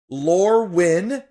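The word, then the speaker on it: Lorwyn: um is easy I put in all caps lur win as an l o r e w YN that's how it's spelled then lorwin w i n and lur when wh en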